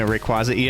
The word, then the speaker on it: Rayquaza: Also, I pronounce it Rayquaz just because there is no consensus on how to pronounce that correctly. So, I just go far and Rayquaz.